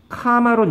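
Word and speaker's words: comma: 주어 동사가 있는 절이 카마론 연결이 안 돼요 콤마 아니야 카마가 맞는 발음이야 I was 0이라는 절과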